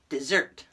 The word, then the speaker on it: desert: of spelling now it's a verb and we pronounce it dessert dessert and it's means to abandon or leave